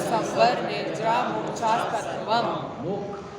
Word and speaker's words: मोक्ष: वावास अं संवर निर्जा मोक्षा तत्वम छ का उच्चारण बताया था मोक्ष नहीं मोक्ष मक्ष क और टण वाला क् ये दोनों मिलकर बना है दोनों मिक्स होकर आने चाहिए मोक्ष मोक्ष राजस्थान में